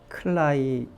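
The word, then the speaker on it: climbing: 뭐 어떤 모양이 남을까요 클라이밍 비는 발음이 안 됩니다 아이고 비는 발음이 안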